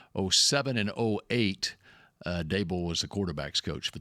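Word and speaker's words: Daboll: It's it's it's Dable. It's like Table. Okay. That's how it's pronounced.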